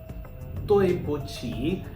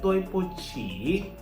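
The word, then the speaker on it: 对不起: Okay, Chinese people pronounce it like T. Okay, that's why toi. And for QI, it's not ki. Okay, chi. Okay, toi po chi.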